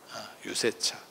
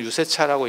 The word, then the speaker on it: 유세차: 유세차 원래는 유세차라고 읽는 게 아니고 유세차 이렇게 읽거든. 유를 굉장히 길게 빼거든. 유를 굉장히 길게 빼. 세차 이렇게 읽거든요.